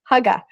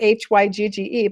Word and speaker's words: hygge: Now, here's another word, and it's pronounced hygge, like you see it written up here, Hygge, but hygge.